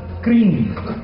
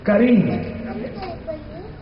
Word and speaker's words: Kareem: will be said Ramadan Kareem. This is one of the etiquettes of Ramadan. If I say Ramadan Mubarak, you will reply Ramadan Kareem. And this is not cream. It is Kareem.